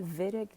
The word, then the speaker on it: Wittig: the vedic reaction and we call it vedic just because of the pronunciation in german so in this vedic